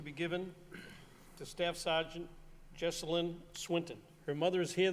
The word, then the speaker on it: Jesselyn: Originally from Lowell, Jesselyn, am I pronouncing her name correctly?